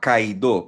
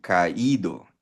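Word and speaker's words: caído: So pag tinanggal mo kasi yung r sa magiging ah kaido. Pero para ma-pronounce maigi yung ido, lalagyan mo ng asento yung i. Kaido eh.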